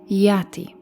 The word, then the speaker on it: Aten: of the S God his name Aton Aton Eon was most likely pronounced by the Egyptians yati as evidenced by analysis of Egyptian names of the Amar period translated into aadan in diplomatic texts written in uniform the so-called amarana letters